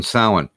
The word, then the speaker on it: Samhain: ritual of the candlelight vigil on Halloween, on Samhain.